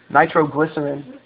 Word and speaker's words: nitroglycerin: I think they're say it wrong it's a nitroglycerin all right nitroglycerin it's just an explosive explosive